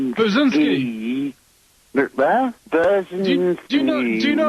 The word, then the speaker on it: Brzezinski: Well, he kind of looks like Burt Reynolds, and his name rhymes with Lewinsky. His name's Brzezinski.